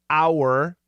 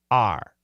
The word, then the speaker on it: our: Perfect pronunciation is our, but daily pronunciation, R.